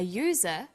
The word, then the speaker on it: user: an umbrella but a user because user sounds like it begins with a y ah and an are